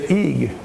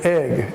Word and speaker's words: egg: It's a short E. It's not a long E. If we pronounce it with a long E, we would say eeg. But we don't say that. We say egg.